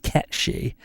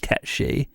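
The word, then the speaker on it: Cait Sith: Irish cat being and why it's pronounced catchy wait what the term isn't made up by Final Fantasy it's another country's folklore so it is catchy oh my God no I don't know about that he heads to Google immediately gck oh my God yeah in Scottish GIC it's pronounced caty and this is reflected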